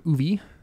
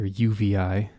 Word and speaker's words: UVI: So what I'm doing here is I'm using an accordion from Uvi, or UVI. I learned recently, I've been saying it wrong for years, UVI, and they have the